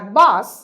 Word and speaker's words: বাস: তালব্য স হিসাবে SH, আর বাস আমরা উচ্চারণ করছি দন্ত স এই হিসাবে স।